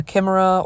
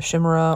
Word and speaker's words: chimera: going to be painting a Kima or a Shima or a chimera however you want to pronounce it I know everybody said has it different so I'll just hit